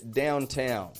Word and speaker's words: downtown: It's that if the T is stressed in the word, because some words need a stressed T. So if that T is stressed in the word, we want to pronounce a true T. So for example, the word downtown.